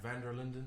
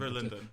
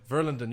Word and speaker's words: Verlinden: People often say like Van der Linden, but there's no A and there's no like N at the beginning. Verlinden. Verlinden, you got it first time.